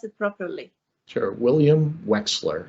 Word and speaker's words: Wechsler: it properly sure william wexler it's pronounced like there's an x in the middle of it excellent okay uh thank